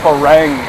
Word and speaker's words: farang: say uh Foreigner uh The Foreigner word in English literature is spelled f a r a n g which sounds like farang but In tha how do Thai people say Foreigner or say French or whever the word originally came from French right yeah from the term french so how do you say Fang for long ah far farang yeah Mah spell no new